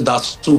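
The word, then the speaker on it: Dassault: फिर इस तरह कहते हैं जो स्पेलिंग्स हैं उसके, लेकिन असल में फ्रेंच में उसे दासू कहते हैं।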